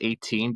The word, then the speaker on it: X8: Um, are you in the same boat where X7 is pronounced as X7 and X8 is pronounced as 18? Because I I never think of it as Wrestlemania X8.